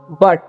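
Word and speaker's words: but: Apples, बट गुट नहीं पढ़ लेना है, इसे बट पढ़ते हैं, ठीक है।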